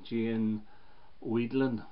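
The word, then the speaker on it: Jane Wiedlin: with cool places which was a duet with Gian Wiedlin that's how you pronounce her name the girl the gurus it's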